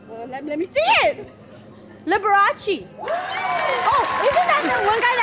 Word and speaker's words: Liberace: Can you pronounce this name? Librace? You know who this was? Liberace.